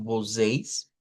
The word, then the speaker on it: vocês: Cuando estudiemos pronombres, vamos a ver que vocês, que es, digamos, la pronunciación de ese pronombre, aquí tenemos, se escribe así, pero lo vamos a sonar como vocês, vocês, se puede traducir